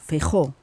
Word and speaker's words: Feijóo: Vou pronunciar o seu nome em espanhol, Feijóo. Alberto Núñez Feijóo. Sendo galego, acho que merece não, ser em galego seria Feijóo, mas o seu apelido está com J, portanto é Feijóo em espanhol.